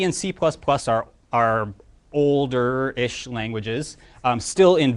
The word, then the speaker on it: C#: C and C++ are older-ish languages, still in very wide use today. C# down there, C with a little hashtag, you pronounce it C#, like a sharp sign in music.